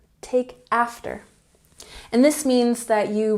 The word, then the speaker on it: take after: last year number 14 take after emphasize the first syllable here take after take after and this means that